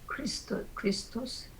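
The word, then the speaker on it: Χριστός: 크리스토스. 예, 크리스토스 이렇게 발음해요.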